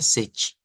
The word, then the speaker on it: sete: caso del número siete se escribe literalmente se escribe setete pero se pronuncia sechi entonces diríamos sechi y el número 21